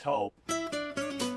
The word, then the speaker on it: Toop: Say it right. That's T-O-O-P. That's Taupe. Oh, it's Taupe.